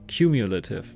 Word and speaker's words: cumulative: difficult one technically all right cool all right comma cultive is it pronounced like that cumulative not Comm what am I saying cumulative countdown